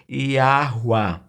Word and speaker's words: Yahweh: Não é perseguido, porque o nome verdadeiro do Pai que criou todas as coisas, a pronúncia mais próxima do original é Yahweh, ou também a forma abreviada Yahu.